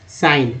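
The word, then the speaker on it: sign: जी एन को जी ना बोलते हैं तो यहाँ देखिए शाइन ना के रूप में उच्चारण हुआ। तो ये देखिए ना जो है साइन कैसे पढ़ेंगे, सा इन साइन।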